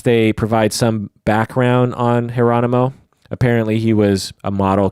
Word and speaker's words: Geronimo: So think Geronimo, but with a J, pronounced Geronimo.